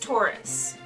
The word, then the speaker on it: torus: It's pronounced Taurus.